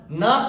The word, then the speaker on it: know: अगर एन मिले तो, के तुरंत बाद एन मिले तो, या के और एन दोनों एक साथ आए तो के साइलेंट होता है, एन पढ़ते हैं, एन मतलब ना पढ़ते हैं, तो KNOW ये क्या हो जाएगा, नो।